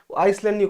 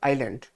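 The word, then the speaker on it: island: ठीक है और वैसे उसका जो प्रोनंसिएशन या फिर उच्चारण होता है आइसलैंड कर आइलैंड होता आइलैंड आइलैंड ठीक है अगला है राइट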